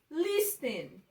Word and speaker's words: listen: Listen. Na palavra listen, a sílaba tônica ela tá no início, tá no lis e não no ten.